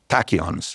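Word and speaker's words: tachyons: Tachons.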